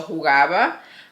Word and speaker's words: jugaba: Él jugaba, because J is pronounced like a H, so jugaba muy bien al fútbol.